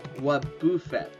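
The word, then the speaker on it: Wobbuffet: No, Wabuffett. Cuz I remember it spelled like buffet.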